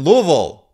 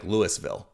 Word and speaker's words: Louisville: now in Valhalla in Louisville which you got to pronounce Louisville or the people in Louisville get mad if you say Louisville or really mad if you say something silly like Lewisville you wouldn't do that